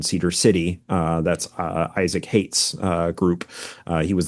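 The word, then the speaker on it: Haight: Hate.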